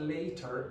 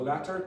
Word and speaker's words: latter: So this is very very common the former and the pronunciation of that is not later it's latter. So latter two t's remember if you have yes okay think think about it if I say l a t.